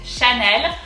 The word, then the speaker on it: Chanel: it's a good coincidence it's chanel so very very easy and extremely similar to english there's just i would